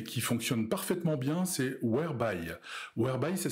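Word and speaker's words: Whereby: moins connue mais qui fonctionne parfaitement bien c'est webyy Weby ça s'écrit W h e r e by y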